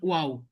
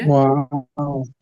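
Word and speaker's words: واو: তারপর আবার শেষে এসে গোল হয়ে যাবে, ওয়াও, ঠিক আছে? ওয়াও, ওয়াও, ওয়াও। অর্থাৎ আমি যদি এটা সংক্ষিপ্ত করি, প্রথমে অ উচ্চারণ হয়, তারপরে আ উচ্চারণ হয়, তারপরে আবার শেষে অ উচ্চারণ হয়, সাউন্ড আসে, অ সাউন্ড আসে, আ সাউন্ড আসে, অ সাউন্ড।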